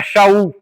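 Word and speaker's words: שאול: Se a gente falar no no no na pronúncia hebraica, era Xaul.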